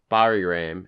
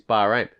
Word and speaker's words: Bahrain: was wrong last week you were saying Barry Graham and I was like no it's ain't Bahrain I was like it's Bahrain that's a complete [